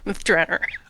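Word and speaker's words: Myth Drannor: which by the way there is a huge amount of dispute internally about how to pronounce that everyone seems to have their own special way of doing it but I'm going with the Ed Greenwood version which is myth drer okay that I was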